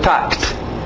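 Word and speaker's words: talked: Passado, tact. Só o T, K com T.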